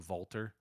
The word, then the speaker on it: Walter: versus l.a knight uh because that's how you pronounce it in uh german and he's from austria so everyone calls him valtter um but it's his name it's walter like it looks like walter if you look